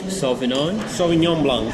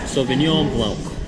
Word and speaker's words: Sauvignon Blanc: This was Sauvignon Blanc. Sauvignon Blanc.